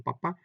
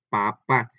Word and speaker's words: papá: Igual pasa con papá, papá. Todos sabemos, y estoy poniendo estos ejemplos muy, muy sencillos para que vayamos entendiendo. Todos sabemos que estas palabras que acabamos de decir llevan acento en la última A.